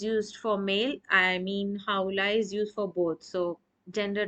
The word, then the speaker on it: هؤلاء: Now pay attention, we do pronounce هؤلاء, but the alif is not here. The alif is deleted. The spelling of هؤلاء is ha, hamza, lam alif and hamza at the end.